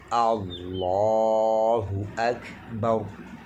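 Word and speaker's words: اللّٰه أكبر: বা পেশ থাকবে তখন ওই লামকে পুরু বা মোটা করিয়া পড়তে হবে। যেমন আল্লাহু, আল্লাহু আকবার, হু আকবার।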